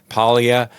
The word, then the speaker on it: Paglia: on it's P a l i a Paia and and you know I apologize for pronouncing it incorrectly earlier that's an oversight on